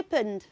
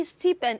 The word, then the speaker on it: stipend: again say sty sty stien stien stien stien stien stien very good so don't say steepen it is what stien again very good so